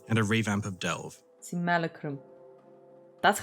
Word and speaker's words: Simulacrum: Simulacrum. That's how you're supposed to Breach's pronounce it?